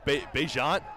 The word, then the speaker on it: Bejant: How is it pronounced? Bejant? Kind of act like there's a J there.